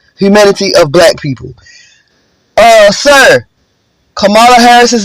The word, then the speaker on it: Kamala: It's pronounced Kamala, not Kamala, as a subtle form of racism.